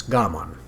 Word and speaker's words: Gamon: He pronounced it properly as Gamon.